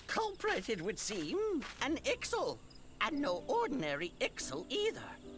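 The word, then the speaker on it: Ixal: it would seem an ixel and no ordinary ixel either a Chieftain I was saying it wrong it's ixel anyway glad I can't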